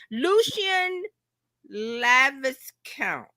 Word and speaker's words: Lucian Laviscount: Tom Cruz Cruz a little a little Lucian Lavis Count. Is that how you pronounce it?